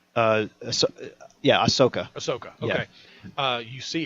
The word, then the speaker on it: Ahsoka: uh is it uh Ahsoka how do you pronounce her name uh yeah Ahsoka Ahsoka okay uh you see her talk telling